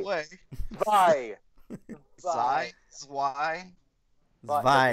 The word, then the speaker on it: Zwei: Action RPG Zwei. way. Zwei. Zwei.